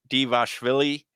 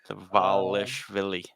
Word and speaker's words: Dvalishvili: But anyways, yeah, Cejudo, Merab Dvalishvili. I think that's how you pronounce it right there. Dvalishvili. Okay. Yeah, the future champ, without a doubt.